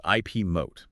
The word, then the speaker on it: IP Mote: Hello and welcome to the IP Mote February roundup. Hey there. And just so we're all on the same page, right at the top, that is pronounced IP moat.